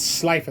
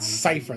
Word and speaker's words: Slifer: If I said it wrong, my mistake, but it's Slifer the Sky Dragon, not Cypher the Sky Dragon.